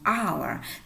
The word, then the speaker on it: hour: The word hour start with a vowel sound hour because the h is silent.